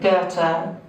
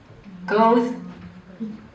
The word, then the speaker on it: Goethe: The English pronunciation, UK. Goethe. The English, American English, Chicago has a street name, and you can listen to this on YouTube. 3 variants. Goethe. Goethe.